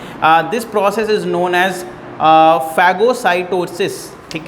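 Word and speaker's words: phagocytosis: फैगोसाइटोसिस, हाँ जी, PHA, मैं आपको स्पेलिंग लिख देता हूँ, फैगोसाइटोसिस, ठीक है, फैगोसाइटोसिस।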